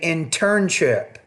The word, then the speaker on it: internship: I think you're trying to say internship, but you're not putting enough stress on the second syllable. You're not pronouncing that T with enough aspiration.